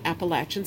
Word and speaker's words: Appalachian: New England and the Southern Appalachians. And yes, that's how that's pronounced.